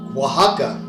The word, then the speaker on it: Oaxaca: you have that name Oaxaca, right? And the way Oaxaca is spelled, when you pronounce it in the Quiche language, it's Yashashaka, right? Like that's how it's really pronounced, right?